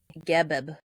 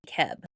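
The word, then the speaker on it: Geb: is is most commonly gibb. So like a double B with a soft G sound or occasionally keb. Older sources might also refer to him as Seb, but GB is the more widely used and accepted pronunciation today.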